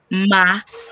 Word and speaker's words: makadi: Okay, so for the first one, that is moro. So it's moro, right? And then there is makadi.